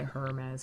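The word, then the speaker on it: Hermès: I say Hermes because I'm pronouncing the H.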